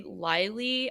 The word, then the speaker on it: Leilee: I am actually Lilee on YouTube, which is spelled Leilee.